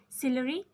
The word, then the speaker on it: ciliary: Ciliary, ciliary muscles. You can pronunciation is given. You can take the help from this. SIL, ciliary, like ciliary muscles.